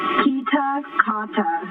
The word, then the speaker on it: Kitakata: say it is pronounced pita cotta so key as in the door key what you open to open a door kita kaw like the